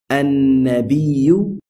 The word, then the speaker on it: النبي: And likewise, in this example, we say النبي, and not النبي.